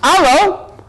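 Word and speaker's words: allô: But the French word is pronounced allo, so I said that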